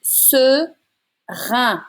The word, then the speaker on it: seringue: It's all straight flat sounds. And you're going to say une seringue. It's un sound. And then because you have the U after the G, it's a hard G sound.